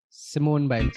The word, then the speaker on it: Simone Biles: I got the name pronounced correctly. Simone. Simone Biles.